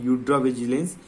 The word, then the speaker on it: Eudravigilance: तो फार्माको के जगह में यूड्रा, ठीक है, फार्माको विजिलेंस जो बोलते हैं ना, यूड्रा विजिलेंस medicinal product dictionary, right.